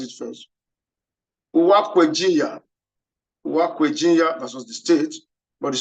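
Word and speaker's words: Uwaekweghinya: Supreme Court held in the case of this case, the spelling is one kind of, but let me pronounce it first. Uwakwejinya versus the state, but the spelling is UWA EKWE GHINYA.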